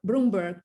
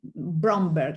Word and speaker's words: Bromberg: the knowing but not knowing and has philly bloomberg uh wrote uh a bromberg let me pronounce it well elaborating uh dory loves idea